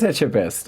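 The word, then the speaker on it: Etchebest: Learn how to pronounce Phipe etchest. Philip Etchest. Oh, it is Etchabest.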